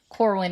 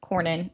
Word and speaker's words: Cornyn: And then what was going on was Corwin is saying, or Cornyn, I keep saying his name wrong.